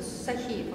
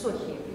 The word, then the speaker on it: Сохиев: Сахиев, он, оказывается, Сохиев. Да. Ну, как эти все в Азии, поэтому, да. Что, не знаю. Да. У них ударение на первый слог, ну, Гек, я не говорю же.